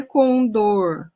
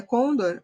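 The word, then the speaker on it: condor: cordilheira dos andes né a maneira que a gente traz fala dela aqui no brasil é com dor com dor e aí é muita gente fala com dor e provavelmente a pronúncia conda é mais da américa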